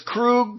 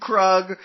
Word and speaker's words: Krug: Well, first of all, they can't decide what they're called because it's Krug, Krug, Crag. I I heard four different pronunciations and Uba himself at